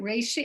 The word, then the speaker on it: reishi: So you mentioned that you put some of the, I don't know how to say it, reishi, how do you say it?